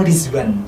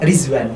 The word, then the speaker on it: Rizwan: Ridwan, tapi di sana kan bacanya tuh Rizwan. Oh, pakai Z. Pakai Z. Jadi aku di sana ngomongnya Rizwan, bukan Ridwan, tapi Rizwan gitu.